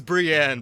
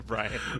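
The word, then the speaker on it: Br'yan: about Brian uh and then her name is Brienne by the way but everyone just calls her Brian well it's spelled BR apostrophe y-a-n so and then lastly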